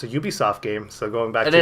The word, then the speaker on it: Ubisoft: they're smaller games by Ubisoft. But am I pronouncing that right? Yeah, I think it's Ubisoft. Well, I think it's Ubisoft because it's Uplay, not Uplay.